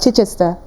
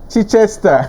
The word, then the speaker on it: Chichester: Chichester. Chichester.